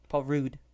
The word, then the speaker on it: Paul Rudd: Paul Rudd, I think is how he prefers it to be pronounced.